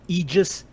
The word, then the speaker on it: Aegis: No, correct pronunciation. It's fucking Aegis, and it's fucking Idris. I'm saying Agos until Idris. You can just be mad at me. I'm saying Agos from now on.